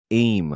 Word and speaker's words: AIM: A lot of your research has focused on this AIM. I think that's or is it AIM? I don't know if they pronounce the acronym as AIM.